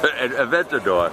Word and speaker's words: Aventador: It's the Adventador. Say it one more time for the studio audience. Aventador.